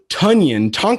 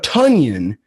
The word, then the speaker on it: Tonyan: Started off with a guy that I found out we've been pronouncing his name wrong this entire time. Mr. Robert Tonyan, Tonyan, 5K on DraftKings against Chicago.